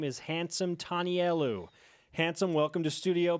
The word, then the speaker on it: Handsome Tanielu: lineman out of Snow College his name is hansome telu handsome welcome to Studio B thank you did I pronounce that correctly yes sir okay I think